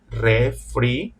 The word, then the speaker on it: refrigerador: But in Spanish, it's mandatory to pronounce all the vowels. In this case, would be refrigerador, refrigerador.